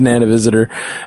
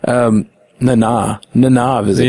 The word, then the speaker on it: Nana Visitor: It shows Nana Visitor, Nana Visitor. Yeah. I guess I've been pronouncing it wrong all these years.